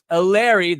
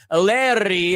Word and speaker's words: Eleri: It is such a joy to have with us Angel City's own Eleri, that's the way you'd pronounce it here, but Eleri, as you would pronounce it in Wales, Earnshaw.